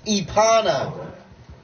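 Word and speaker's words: Epona: Did you really just say that horse's name wrong? Yeah. It's Epana.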